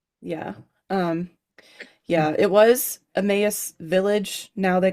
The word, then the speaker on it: Emmaus: Is that how you pronounce it? It's Emmaus.